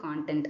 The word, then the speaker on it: content: ஆனா ஒரு ஒரு ஸ்பீச் இருக்கு, அதோட கண்டென்ட் நான் படிக்கிறேன் அப்படின்னா அது கண்டென்ட் கிடையாது, அது கான்டென்ட். அதனால தான் நான் கான்டென்ட் ப்ரொனவுன்ஸ் பண்ணிருக்கேன், அதனால குழப்ப வேண்டாம். இது வந்து கான்டென்ட்.